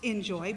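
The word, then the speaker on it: Enjoie: enjoy golf of course it's you know pronounced in joy but spelled with a - en - Jo ie golf because the - will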